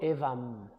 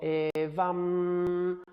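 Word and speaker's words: evaṃ: Y aquí, por ejemplo, en el que os he leído, evam, no digo evam, digo evam, porque la M tiene un punto arriba.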